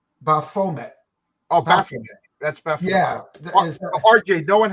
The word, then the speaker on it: Baphomet: I don't know how to pronounce it right. Baphomet. Oh, Baphomet.